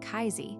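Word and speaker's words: CAISI: The bill formally creates the Center for AI Standards and Innovation, or Casey, pronounced like Kaizi, housed in the Commerce Department.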